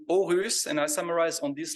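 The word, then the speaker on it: Aarhus: originally from Switzerland that the double A in Danish is pronounced like an o right that's right so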